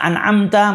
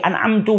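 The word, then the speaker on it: أنعمت: karena terlalu cepat mungkin bacaan yang harusnya an'amta menjadi anak mtu menjadi anak anti yang mana itu merubah maknanya nah ini harus diperhatikan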